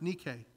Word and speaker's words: Nike: You go into Foot Locker, you watch football this afternoon, you'll see, I promise you, it's Nike. It's actually pronounced Nike.